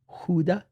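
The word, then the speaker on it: Gouda: hard like a mano uh I like a goua uh I like do you know gas actually pronounce Huda really yes but that's only by food nerds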